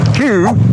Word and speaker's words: Hugh: Hugh Grant, although it's spelt who, sort of.